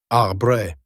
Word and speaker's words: arbre: in the same way he was taught to pronounce ape, singe, and tree. Arbre.